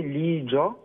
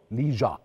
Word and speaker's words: لي جا: الهداوه والجمال ده قو لي بقى الاول انا بنطق الاسم صح ازاي ا اسمي اسمي بالصيني لي جا لي جا بالظبط اوكي اوكي اوكي وحكيم حكيم ده اسم